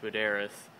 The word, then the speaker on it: Buderus: It's Buderus or Buderus. I don't know why I always call it Buderus, but that's what I called it, but I think it's pronounced Buderus.